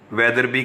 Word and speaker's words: Wetherby: Spelling देखिए, WETHERBY, वेदर बाई नहीं पढ़ना, वेदरबी है।